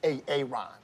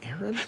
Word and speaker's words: Aaron: you say it the first time i said ay-ay-ron because it's pronounced Aaron you done messed up ay-ay ron now take